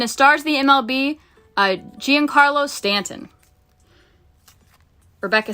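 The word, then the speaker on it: Giancarlo Stanton: Uh, Gian Carlos Stanton.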